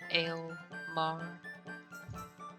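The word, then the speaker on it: Almar: Al Mar. That's my name. Generally said with the two syllables closer to each other.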